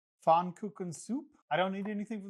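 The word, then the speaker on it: Pfannkuchensuppe: I'm going to attempt the German pronunciation. Fon cook soup.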